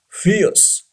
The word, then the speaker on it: fierce: Number 6, fierce. Yes, R is not pronounced. R should be silent.